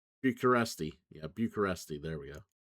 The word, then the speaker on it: Bucharest: Bureaucr I'm I'm I'm saying it wrong. Uh bu uh Bucharest.